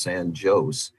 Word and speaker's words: San Jose: We also have one that's spelled like the world pronounces San Jose. It's pronounced San Jose.